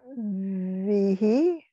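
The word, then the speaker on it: ויהי: Vihi? Yes. The little line there is just to tell you that the emphasis is on that first syllable.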